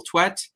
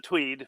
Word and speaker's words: Twedt: So, welcome to our friend Daniel Twet. You have the floor. Mute. There we go. I'm unmuted. Okay. Yeah. Um, usually pronounce it tweed, by the way.